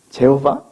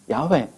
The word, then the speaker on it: 야훼: 발음해봐. 제호바? 진짜로? 넌 증인이라고 하면서 네가 믿는, 네가 증인이라고 하는 그 신의 이름 하나 제대로 발음 못하면서 무슨 증인이야. 우리 어린 시절에 하나님을 여호와라고 불렀습니다. 오늘날 목사님들의 설교 속에서 여호와라고 하나님의 이름을 부르시는 분들이 몇 분이나 있을 것 같습니까? 요즘 다 어떻게 부르죠? 야훼.